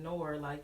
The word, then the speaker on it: Noir: But I was like, let's just pronounce it Noir, so.